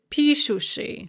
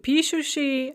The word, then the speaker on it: пишущий: So писать becomes они пишут, and then the participial form is пишущий, with the stress on the first syllable just as it is in the они form of the conjugated verb.